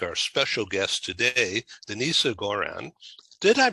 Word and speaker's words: Denisa Goran: because of people like our special guest today denise goran did i pronounce that correctly yes that's correct it's denis